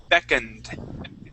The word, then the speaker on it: beckoned: Um, this word is beckoned. Beckend. Good. Yeah. And that has a D sound at the end.